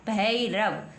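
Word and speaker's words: Bhairav: next लिखा हुआ है बी एच ए आई आर ए व तो क्या बन गया भैरव बी एच है बी के तुरंत बाद एच है तो बी के तुरंत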